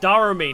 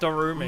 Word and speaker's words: Dari: I forgot it's pronounced Dari, not Darumi.